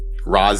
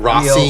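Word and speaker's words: Rozzie: It is not anything but R-O-Z-Z-I-E. Rosie. That's what it. That's the not Rossi.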